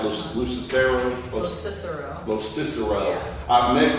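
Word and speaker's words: Locicero: And I never am confident that I pronounced Craig's name, his last name, right? Lucicero? Los Cicero.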